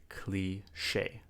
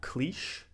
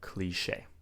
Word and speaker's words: cliché: And of course we have the word cliché. Cliché. When something is cliché, it means it's been done so many times that it's unoriginal, it's boring, it's overused. It's cliché. Now this is a French word.